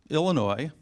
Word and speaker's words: Illinois: Jersey I mentioned Chicago Illinois please don't pronounce the S New York we matter